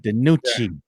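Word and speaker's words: DiNucci: Ben denucci there you say his name right denucci d denci so um out of those three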